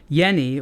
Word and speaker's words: Jenny: name of a watch called Yenni or it's spelled Jenny um that was a